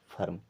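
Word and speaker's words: firm: ये हो जाएगा verb F ई आर एम इसे पढ़ेंगे फर्म इस प्रकार से कभी भी अगर ई आर साथ में आ रहा है तो ई का उच्चारण करना है आ की तरह ठीक है और ये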